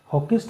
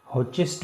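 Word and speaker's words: Hoechst: और यह था जैसे कि आप यहां पर देख सकते हैं हॉकिस्ट फार्मासटिकल्स वर्सेस स्टेट ऑफ बिहार। यह जो प्रोनाउंसिएशन है हॉचेस्ट भी इसको कह देते हैं।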